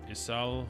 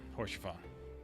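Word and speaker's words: Haurchefant: Is that for Isal, or however you pronounce her name? Oh no, it's Horsefon.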